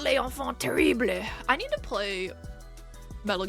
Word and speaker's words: Les Enfants Terribles: It's pronounced Les Enfants Terribles.